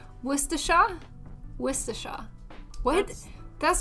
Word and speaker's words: Worcestershire: The correct pronunciation of Worcestershire sauce is Worcestershire. Worcestershire?